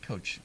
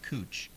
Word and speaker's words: Coach: heard coach being pronounced like cooch.